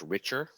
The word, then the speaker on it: Richter: dan richter richter richard i think his last name is pronounced richer and yeah we're going